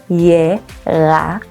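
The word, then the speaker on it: ירקות: The tricky part is pronouncing the ch in kachol. Try coughing and feel the back of your throat.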